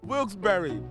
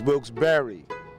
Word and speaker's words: Wilkes-Barre: it's a great city it's a beautiful city wilkes-barre it's the correct pronunciation this guy just informed me for everybody